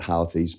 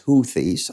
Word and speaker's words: Houthis: you all right me I call it hoies but it's huies I I get it